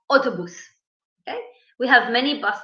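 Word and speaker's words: אוטובוס: Okay, it's not like English. Maybe the last part, bus, but we say autobus.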